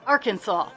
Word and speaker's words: Arkansas: Okay, so we have Arkansas. Look, I even said it right. Arkansas.